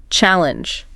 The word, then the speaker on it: challenge: It's the first syllable. Challenge. Not challenge.